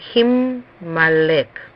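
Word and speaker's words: הִמָּלֵךְ: Siempre debemos poner un dagesh fuerte en la primera consonante. Ponemos el dagesh fuerte en forma en la imperfecta y pronunciamos la consonante 2 veces al leer la palabra. Por eso sería Himalek. La mem se escribe 2 veces en la palabra.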